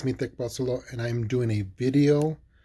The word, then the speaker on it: Axolotl: So I'm going to pronounce them. Axolotl, Axolotl, Axolotl, Xolotl, Xolotl, Xolotl.